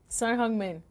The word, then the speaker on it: Son Heung-min: This guy is, Son Heung-min, is, have I pronounced that in the right order? Son Heung-min.